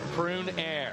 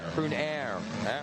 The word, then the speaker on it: Prunier: seventh at behind Quentin pruniers for nears like prune air prune air silent s hey that works old